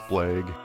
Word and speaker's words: Blagg: They pronounce it Blagg.